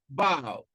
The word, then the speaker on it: about: The third example, about. You can see that stress is on the second syllable in about, and also in return, return.